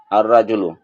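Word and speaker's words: الرَّجُلُ: আল যুগে আতরমিজু লেখা আসবে লেখা আসবে এটা উচ্চারণ হবে এটা আতরমিজু তিফলুন আতফলু রাজুন আর রাজুলু জাহরাতুন আজ জাহরাতু সাতুন আসসাতু আলু যখন কোন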